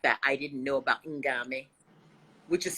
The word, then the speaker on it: Ngame: with the fact that i didn't know about ingame which is spelled n it's like end game n-g-a-m-e that's ingami um so yeah so we will learn more